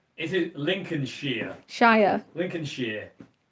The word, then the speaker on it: Lincolnshire: Lincolnshire. That's how you say it around here. It's not Shire. You don't say Shire.